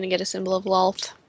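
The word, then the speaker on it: Loalth: Well, Borg is just going to get a symbol of loft.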